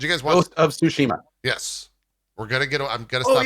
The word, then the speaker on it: Tsushima: Hey, did you guys watch that Ghost of let's say it correctly, Tsushima? Is that right? I think that's right. Did you guys watch Ghost of Tsushima?